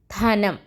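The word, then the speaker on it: ധനം: Tha, na plus nam. Dhanam.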